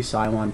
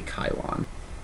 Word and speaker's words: Cylon: I know it says Cylon, and I really want it to be Cylon, but apparently there's no soft C in Greek, and it would be Kylon.